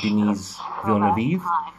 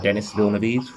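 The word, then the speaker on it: Denis Villeneuve: of them with uh denise villanova or dennis villenes depending on how you want to pronounce it uh who's gonna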